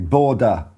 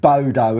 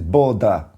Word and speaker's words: Bodø: I learned how to pronounce it properly. Borda. I'm not right there. But better than saying Bodo, isn't it? It's not Lord of the Rings. It's Borda.